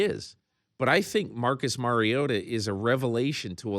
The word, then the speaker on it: Mariota: Well, it's every time I pronounce his name, it's wrong. It's Mariota.